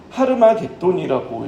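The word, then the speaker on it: הר מגידו: 여기서 아마돈은 여러분 히브리어로 하르마돈이라고 읽습니다.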